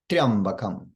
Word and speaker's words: triambakam: Should be one syllable, triya, not triya. One syllable, triya, triya, triya, triya. Additionally, that first syllable, triya, should be pronounced with the swarita swara, the high pitch, which a lot of people will skip this as well.